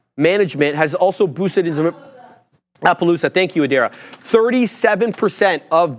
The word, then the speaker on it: Appaloosa: app app USA management has also boosted into Appaloosa thank you ader 37% of this uh of